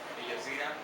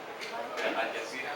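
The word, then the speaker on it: الجزيرة: El Jazeera, Al Jazeera. Al Jazeera, sí, es el canal es el canal de televisión más famoso en la zona del Medio Oriente. Jazeera significa isla. Y Al Jazeera, la isla.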